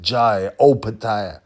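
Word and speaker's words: Jai Opetaia: That's how you pronounce it. Jai Opataya.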